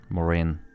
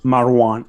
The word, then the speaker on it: Marwan: name maureen it's actually marwan m-a-r-1 do you apologize